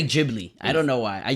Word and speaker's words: Ghibli: Pretty sure it's Ghibli because the GH in Italian. It's Italian, yeah. Yeah. It Mhm. makes the gus sound.